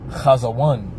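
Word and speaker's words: חזון: All right, so that word in the Hebrew is pronounced kazawan for vision.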